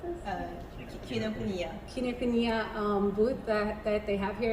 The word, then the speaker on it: Kinokuniya: I just went to the Kinokuniai, how do you pronounce this? Kinokuniya.